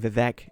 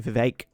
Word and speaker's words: Vivek: so vivekarama Swami and if I've been saying Vivek it's actually Vivek but I don't pronounce it right most of the times vivekan